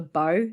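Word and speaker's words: badhbh: parts of Ireland the Banshee is called a bow so it's spelled you're gonna love this heavily it's spelled b-a-d-h-b-h it's pronounced by what you just said um so a bow is a type of carry-on bird uh carry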